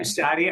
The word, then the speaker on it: Shadi: Shaddy are the best way, and it's super corny, but it works. It rhymes with daddy or caddy, so people get that.